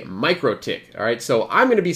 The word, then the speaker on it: MikroTik: pronunciation is mikrotik however the official pronunciation technically it should be me crow tick um I might say